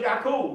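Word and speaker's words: Ya'qub: If you say his name in Arabic, you say Yak.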